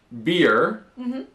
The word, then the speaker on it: beer: Donc pour beer, c'est un I long comme on avait dans sheet juste avant.